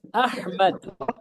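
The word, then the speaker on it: أحمد: Now, say for example, this alif was not the hamza. It was alif without any tashkeel. Then can you pronunciate the alif? No. You can't. Because agar, then it is hamd. Very good. Zan is getting properly. So this is then hamd, not Ahmad.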